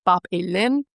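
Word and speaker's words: Bāb-ilim: And of course, the Mesopotamians pronounced it Bab-elim.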